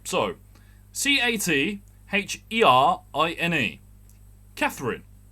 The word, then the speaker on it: Catherine: right so c-80 h-e-r-i-n-e katherine like the actress catherine zeta-jones catherine street we have that